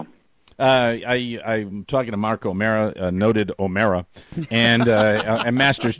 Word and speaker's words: O'Meara: Maybe they don't like it when it's O'Meara. It's O'Mara.